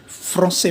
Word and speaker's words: français: ये जो है सी के नीचे ये सिंबल है, यहाँ पर सी की साउंड स हो जाती है. आई be telling you. So this means we यस je parle, I speak français. French को फ्रेंच में फ्रांसे बोलते हैं.